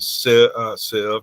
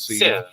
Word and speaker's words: sieve: Well, Google, when you ask it to define sieve, pronounces it sieve, not sieve.